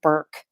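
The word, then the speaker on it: Bourke: Bork or Dooney and Burke? Because I've always said Bork, and I had my first Dooney and Bork purse was purchased in 1989, and I think I'm saying it wrong. Everybody says Burke.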